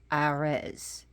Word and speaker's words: Ares: in Greece it is his name is actually pronounced arz a r s now the astrological sign is